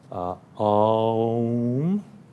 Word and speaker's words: Om: And as HPB points out, it could be a 3-syllabled word, a 2-syllable, it can be A-U-M. Remember, imagine, it's like the 3 worlds, right? Om, you're ending with the dental, you're starting in the back. So air is going through the palate, becoming a U, and then the dental, the clip, but it's a nasal M, so it's vibrating constantly.